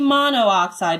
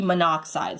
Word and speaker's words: monoxide: of our exceptions again it can't be mono oxide because if you pronounce this and be like my side and we want it just to be monoxide so we get rid of